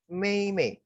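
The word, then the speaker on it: 妹妹: Nah, yang terakhir ini bacanya Mei Mei.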